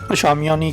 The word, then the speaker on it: Chamonix: Now, Chamonix is a strange word, starting with CH, but when I checked the pronunciation, it said it's called Shamiani.